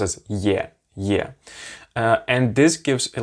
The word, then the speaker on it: е: If the ye is in the beginning of a word, then yeah, you pronounce it like yeah. Very much it's like this Y-E sound, basically. But if it's in the middle of a word, it just little bit softens the previous consonant mostly.